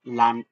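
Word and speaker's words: Land: এটা বুঝতে পারবেন যেমন ডি শব্দের শুরুতে বসলে ডি এর মতই থাকবে শব্দের শেষে হলে ট এর মত উচ্চারিত উচ্চারণ করবে যেমন ডাঙ্কেন লান আর জি এর ক্ষেত্রেও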